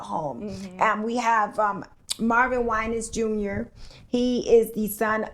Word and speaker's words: Winans: Vicki Winans and Marvin Winans, of course, senior from the gospel royalty, the Winans. He's going to be speaking on Sunday. So everyone's saying their last name wrong. That's what I'm hearing? It's Winans.